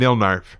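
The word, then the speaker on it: Nilknarf: She was working on some wood in the barn/shop at midnight with our two dogs, Franklin and Nilnarf. Franklin spelled backwards with a silent K.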